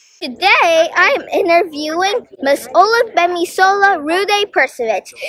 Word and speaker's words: Olugbemisola Rhuday-Perkovich: It's Olugbemisola Rhuday-Perkovich.